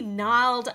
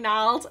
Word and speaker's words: gnarled: is like a really gnarled apple tree my favorite kind I also like saying gnarled and gnarly because they got a silent G and they're not the